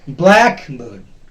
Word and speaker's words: blackbird: This is a compound word, two parts. One is black, the other is bird. The first part will be stressed. Blackbird. Blackbird. It will not be pronounced as blackbird. No, it's blackbird.